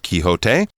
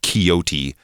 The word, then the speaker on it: Quixote: So we're going to go with sort of the middle ground of Quixote. But yes, older people might, or older versions of the word might be pronounced Quixote. But I think now we try to do it in a slightly more accurate Spanish style.